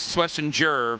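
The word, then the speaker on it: Schwesinger: It is Swissinger for whatever reason cuz I know somebody who's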